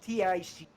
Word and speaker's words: Thys: Then we have the guy's name that you couldn't say earlier, Tis Payne. Yes. I've got written down here. It's Thys, but he said it's pronounced Tic.